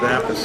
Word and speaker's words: Appice: Piece of cake, a piece of crap. Yeah. So I didn't want to say a piece, so I stayed with Appice.